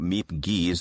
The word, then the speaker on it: Miep Gies: wonderful we're speaking about meep geese that's the American pronunciation of her Dutch name I know there's a Dutch twist to that but uh that's good enough yeah tell me about